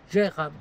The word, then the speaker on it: Dwejra: Alors aujourd'hui, on est dans le mouillage de Gérab. La prononciation c'est c'est limite.